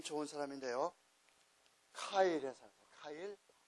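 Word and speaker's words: Keil: 좋은 사람인데요 카일이 사람 카일 독일 사람들은이 아이를 항상 아이 이렇게 발음을 해 아이 아제나 아 케일이 아니에요 카일 그다음에 이거는 란 뜻이에요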